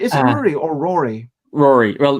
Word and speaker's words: Rory: or Rory Rory well ruri is the Irish pronunciation of it but I do I nearly changed it as a teenager from to the Irish spelling but I kept it as the the English spelling first so it's Rory okay but uh having